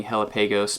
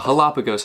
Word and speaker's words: Hellapagos: jalapagos right here uh I've been pronouncing it jokingly hella pagos but uh jalapagos I believe is how it's actually pronounced and the tagline right